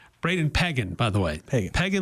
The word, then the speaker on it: Pegan: would call him Brady Peagan. Brandon Brandon. Braden Peagan by the way. Peagan like Megan. Yeah, Braden Peagan. I've been saying Pagan so Yeah, me too.